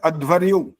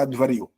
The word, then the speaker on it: अध्वर्यु: इसके बाद है छठा नंबर इसको बोलते हैं अध्वरयु अध्वरयु का असली मतलब होता है यजुर्वेद के